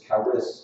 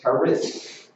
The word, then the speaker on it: Charis: It looks like the letter P, but it's pronounced with an R.